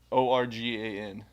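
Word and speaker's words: Organ Mountains: What syllable? Oregon Mountains? Organ.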